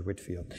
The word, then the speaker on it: Whitefield: his name will you so Whitefield but pronounced George Whitfield okay where are we